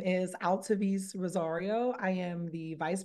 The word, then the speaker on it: Altevese: And then Altevese, do you want to go next? Yes, I will. Perfect pronunciation, Whitney. Greetings, everyone. Happy New Year. My name is Altevese Rosario.